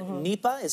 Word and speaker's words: Nipah: So there's Middle East Respiratory Syndrome, Lassa fever, and Nipah. Am I pronouncing that correctly?